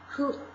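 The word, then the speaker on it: ふ: 那样子，他不读呼哈，不是呼叫的呼，是呼这样吹风的那种发音，who，吹风的那个呼。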